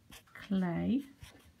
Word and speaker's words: Klee: his name is all clay e e for pronounced as if it's an a i or an a y and he was born